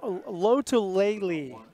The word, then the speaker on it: Lotulelei: Lotolele is the name. It's spelled Lotulelei. To me, that spells Louis. That spells ukulele. Ukulele, right. You're right. That's the way I'm going to remember it. Lotalele, ukulele.